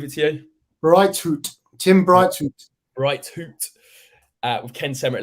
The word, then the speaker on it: Breithaupt: Midfield partnership of Loser and pronunciation, Charlie, I'll leave it to you. Breithaupt, Tim Breithaupt.